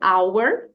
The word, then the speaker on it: our: isoladamente né help e are isoladamente é are claro que também tem outra pronúncia essa palavra aqui podemos dizer our você vai ouvir sim